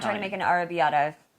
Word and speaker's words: arrabbiata: make an arrabbiata, Correct. I don't know how to pronounce it.